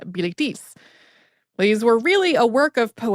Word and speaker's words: Bilitis: female students, who was named in the French pronunciation Bilitis.